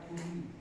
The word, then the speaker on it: Puyi: Tulisnya Puyi tapi bukan Puyi, bacanya Puyi.